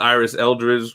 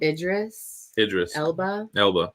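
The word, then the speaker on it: Idris Elba: And I had the Iris Eldridge. What's that name? What the fuck? Idris. Elba. I always say his name wrong.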